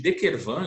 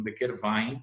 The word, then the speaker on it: de Quervain: Aí a tenosynovite de De Quervain, especificamente, é a lesão dos tendões, de dois